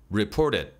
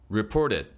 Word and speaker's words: reported: South Korea, reported, reported, 이 끝 음절 소리가 중요한데요. reported, 디귿 받침으로 잡아주는 거예요. reported, reported, 드 소리가 나는 게 아니에요.